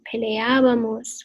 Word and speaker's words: peleábamos: So we're going to go with peleábamos with an accent on the first A of your ending.